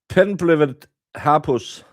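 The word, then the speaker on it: Penblwydd hapus: Penblivet hapus is how you say it in Welsh.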